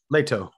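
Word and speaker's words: Leto: as lady jessica treaties oscar isaac as duke leo atreides uh what i'm sorry lato oh lado atreides pardon me jason mamoa as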